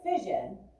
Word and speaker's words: fission: And so nuclear fission is the process of splitting the nucleus into two smaller nuclei of smaller masses. Right? Fission. Kind of sounds like the word division.